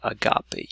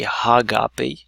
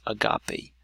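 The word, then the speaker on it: ἀγάπη: mark and so essentially in this case you do not pronounce an H you say agape you don't say Haga P just agape another word is Hooper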